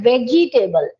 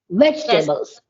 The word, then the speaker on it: vegetable: we used to we say this word like vegetable this is not vegetable we have to drop the e second e sound and we have to use it like vegetables vegetables right so we ignore pronunciation so by